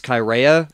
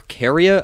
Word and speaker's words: Chaerea: So one Praetorian guard, Cassius Chaerea, or Caria, I've heard it pronounced both ways, he had had enough of this whole Caligula thing.